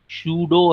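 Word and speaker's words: pseudo: तीसरा बेटा एक पॉइंट आएगा आपसे, ये पूछा जाएगा सूडो हैलाइड, P साइलेंट है, सूडो हैलाइड, विच ऑफ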